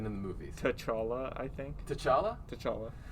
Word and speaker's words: T'Challa: i think t'challa t'challa i've heard t'challa and i've heard takala really yes and both those are actually fun that's fair yeah one time though i heard some idiot call him chayala and then silent i was like the t is silent and then you throw